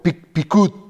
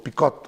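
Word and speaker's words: פקוד: la palabra precepto y viene del hebreo pikut, algo así, P-I-Q-U-D, ¿no? Pikut o pikot, algo así se pronuncia.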